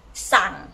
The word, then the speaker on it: สั่ง: And order, low tone. Can you pronounce after me? Sang, okay, together, sang arai.